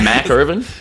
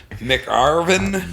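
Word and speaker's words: McIrvin: Mac Irvin? Yeah. Either That's how I always go. Mick Irvin. Mac. Big Mac? Yeah. There's no goddamn A in my fucking name.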